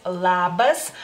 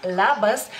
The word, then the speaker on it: labas: En lituano la L tanto puede ser más suave como más firme, por así decirlo, y en la palabra labas es más firme, ¿no?